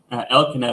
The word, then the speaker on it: Elkanah: Elkanah is how I pronounce it, Elkanah, but Elkanah, Elkanah.